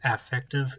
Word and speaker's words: affective: And if you don't like the way I pronounce affective, that's how apparently we pronounce that word in psychology. It's just how my professors always pronounce it.